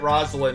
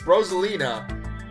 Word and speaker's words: Rosalina: doughboy was a creepypasta i don't know why i'm pronouncing it rosalind it's rosalina i genuinely don't know